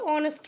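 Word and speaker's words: honest: আমরা তারপরে যে নাউনটা বলছি, কিংবা কখনো দ্য অনেস্ট ম্যান যদি এরমভাবে বলি, সেক্ষেত্রে কিন্তু দি অনেস্ট ম্যান, কারণ অনেস্টের উচ্চারণটা ভাওয়েল দিয়েই হচ্ছে।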